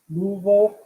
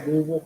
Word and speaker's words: Louisville: knew clemson at home um duke florida state louisville and um syracuse by the way i got the louisville pronounced correctly by the way it's not louisville